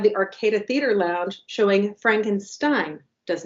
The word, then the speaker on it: Frankenstein: one being Young Frankenstein, rhyming with Ovaltine, Frankenstein. And that is playing at the Eureka Theater on the 26th on this Saturday. And we have the Arcada Theater Lounge showing Frankenstein.